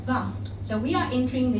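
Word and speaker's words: ו: And it's called valve. Bacanya valve.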